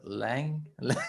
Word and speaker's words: Laing: Uh, how do you pronounce it? Lang?